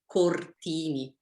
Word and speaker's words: Cortini: Okay, so in Italian, we pronounce every single letter. So it's Cortini.